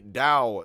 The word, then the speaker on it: Dao: The most famous and simple difference is that what was Taoism is actually more pronounced Taoism, and today is not spelled with a T and is spelled with a D, which is Taoism.